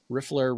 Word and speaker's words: riffler: And then for all the Harry Potter nerds out there, riffler rhymes with niffler.